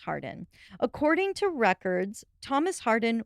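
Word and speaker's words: Hawarden: name being thomas harden spelled e h-a-w-a-r-d-e-n but pronounced hardin according to records thomas hardin was a dean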